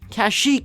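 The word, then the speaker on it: Kashyyyk: it's spelled on pronunciation there are only two two ways to say it but they are both very different kashik is the most widely accepted movie accurate version but the first time we ever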